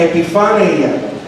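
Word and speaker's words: ἐπιφάνεια: El término Epifanía proviene de un término griego que se pronuncia epifaneia y significa aparición o manifestación.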